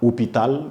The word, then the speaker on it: hôpital: parler de garçon homme vous voyez que la prononciation du H qui est dans homme ne s'entend pas hôpital vous avez l'impression quand on dit hôpital ça